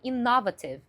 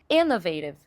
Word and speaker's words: innovative: muito as pessoas falarem innovative. Innovative. E na verdade a pronúncia correta é innovative. Innovative. Olha só a diferença. Innovative innovative. Innovative innovative. Ou seja, trocar a sílaba tônica deixa a palavra muito descaracterizada.